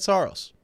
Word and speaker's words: Saros: Look, I went last year off of the official pronunciation guide that the Predators sent out, and in that, it said Saros.